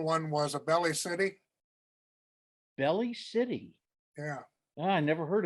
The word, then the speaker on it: Belle Plaine: was a belly city belly city yeah i never heard of that one well maybe just bell city but i think it was b-e-l-l-e oh that's bell that's pronounced bell okay well anyway you